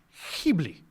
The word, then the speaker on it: Ghibli: on this phone apparently it is a soft G aspirated it should be he bleep he bleep alright good